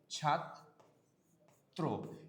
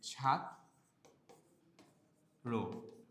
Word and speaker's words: ছাত্র: ছাত্র এর উচ্চারণ আমরা কি করি? ছাত্র। কেউ যদি আপনারাযে আপনার যে ভুলটা করেন আপনারা এটা লেখেন যে ছাত্র র না। এটা ভুল। এটা কি ভুল। সম্পূর্ণভাবে ভুল। ছাত্রর না।